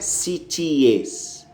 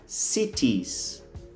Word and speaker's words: cities: A pronúncia não é cities, não. A pronúncia é como se você tivesse acrescentado apenas um S na pronúncia do singular. O singular não é city, O plural é esse city mais um S. Então é cities.